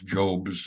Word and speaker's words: Job: As I use a digital voice to go through this, you're going to find out he doesn't pronounce Job's name as Job. He pronounces it Job.